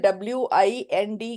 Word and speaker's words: wind: is different for example w i n d can be wind and it can also be wind okay so can you